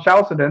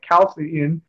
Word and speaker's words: Chalcedon: I always pronounced it wrong, Chalcedon, and no one corrected me until I saw people calling it Chalcedon.